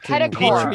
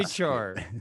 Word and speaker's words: petrichor: Wait, Washington pedicore. Petrichor.